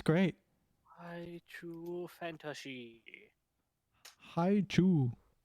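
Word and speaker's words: Hi-Chew: Hi chew. Hi chew.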